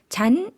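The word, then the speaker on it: ฉัน: 마치 사성으로 발음하듯이 할 수도 있겠지만 우리가 일상생활에서 좀 더 자연스럽게 발음하기 위해서는 잔, 삼성으로 발음해 주시면 되겠습니다.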